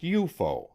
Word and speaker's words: UFO: name unidentified flying objects UFO pronounced eupo for short officially the